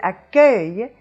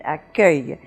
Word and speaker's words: accueil: be the open eu and you have that in accueil and the sound at the end of this syllable that is closing off the syllable is a semi vowel but it has the function of a consonant in this case and we have "yuh"